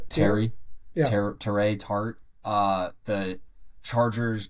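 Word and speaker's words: Teair: How do I pronounce his first name? Terry.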